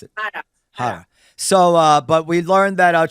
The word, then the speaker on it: Harra: How do you pronounce it? Harra.